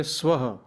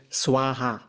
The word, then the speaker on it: Swaha: So like, let's say if you say Om Bhurbhuva Swaha, so we say Swaha, but many Western renditions say Swaha. You see? So Could you say that again? So Swaha.